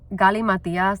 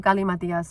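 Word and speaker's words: Galimatias: So I also, today was so fucking great too, because Gali Matias, that's how I say his name.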